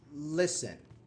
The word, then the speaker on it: listen: no no no uh because the T silent okay I'll give you